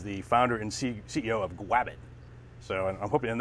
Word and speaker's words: Gwabbit: founder and ceo of grab it so i'm hoping and that is with a w so i'm not just mispronouncing it like elmer fudd it is grabbing it